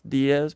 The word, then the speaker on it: Diez: I just started a little podcast called D cuz people mispronounce my last name. It's Diaz but they say the sometimes so I called it these nuts.